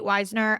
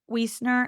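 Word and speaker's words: Wiesner: And that is Lily Real out of Gotham and Kate Weisner out Wesner. Actually, I think I think it's Weezner. That's how they're pronouncing on the broadcast at least. So that's what we're going to go with.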